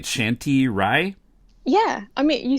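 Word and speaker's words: Shanti Roy: So my it's pronounced Shanti Rai. In the romanization of Bangla, you actually write it R-O-Y, which in English you pronounce Roy, but in Bangla that's Rai.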